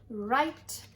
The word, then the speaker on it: write: W-R says R, W-R says R. This W is silent. He doesn't make a sound. You only say the R sound. R-I-T, write, R-I-T, write, and write a letter.